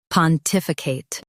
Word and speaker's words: pontificate: In UK, stress tif and soften I. Pontificate.